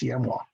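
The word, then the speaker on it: Siamois: I pronounced it a different way for about 5 years until one year, some woman of French background, I guess, said, that looks like a French word. It should be pronounced CMWA.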